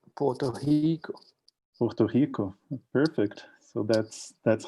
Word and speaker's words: Puerto Rico: the pandemic and monitoring in general uh in puerto rico uh which i just mispronounced i'm just saying that how it it is reading right now it's pronounced porto puerto rico perfect so that's that's how brazilians would do